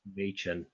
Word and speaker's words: Machen: it's pronounced Machen. Machen. Yeah. Oh, what city? Actually, I was what is it? Machen, like the month of May and your chin.